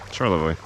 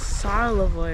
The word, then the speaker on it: Charlevoix: I don't know what I did to make him so sad, but Oh, Charlevoix. that's how you say it. I was thinking Charlevoix or something.